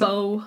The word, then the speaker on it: Baugh: I think it's Baugh, probably.